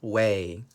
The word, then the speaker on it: weigh: at some vocabulary we have way this is pronounced way way is a verb way means to learn how